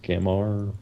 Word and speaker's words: Gamvar: Yeah, it's spelled Gambar, but it's pronounced Gamar.